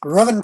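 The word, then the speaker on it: Ruthven: apparently the welsh pronounces they don't pronounce the th robin todd um and he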